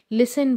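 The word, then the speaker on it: listen: इन the world लिसन लिसन के अंदर तीजा है साइलेंट होता है ओके तो हम इसको लिस्ट नहीं कहते लिसन बोलते हैं इसी तरह से हाफ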